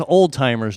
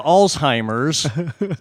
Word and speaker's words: Alzheimer's: But I want to strangle somebody who says, "Oh, well, he has old timers disease." Really? If you're What's that? referring to Alzheimer's, please learn how to pronounce it, and it is an actual disease.